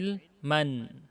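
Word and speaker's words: علماً: kondisinya edelman bacanya Hai Ilman ada Nun karena tanwin itu adalah Nun yang tidak tertulis tapi diucapkan Hai Ilman Ilma kalau waqaf kalau tersambung Ilman terus ada kata setelahnya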